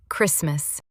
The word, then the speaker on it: Christmas: Tam ch vyslovujeme ako k. A pozor, hoci tam píšeme v polovici slova T, ani toto v angličtine konkrétne v tomto slove nevyslovujeme.